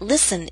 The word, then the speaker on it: listen: day maybe he'll listen note that listen is one of those words in which we always omit the T sound now if you'd